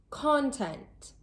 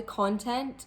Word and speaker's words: content: Did you notice that the word stress was placed on a different part of the word each time?